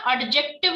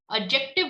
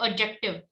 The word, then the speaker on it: adjective: Listen, इसको ना adjective नहीं बोलते, D is silent. Okay, adjective बोलते, adjective.